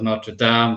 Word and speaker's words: Notre Dame: Notre Dame, as they call it, the American pronunciation of Notre Dame.